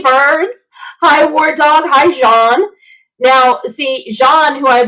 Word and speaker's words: Jean: that it's important according as in jean-luc picard john is the proper pronunciation so i am